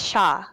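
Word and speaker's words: Shaa: will say her name her sister's name is shaw s-h-a-a and she will um ask you guys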